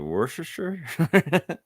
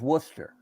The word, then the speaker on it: Worcester: do you actually say is it wor sure werer worsters sure no R just Worcester werer yeah all right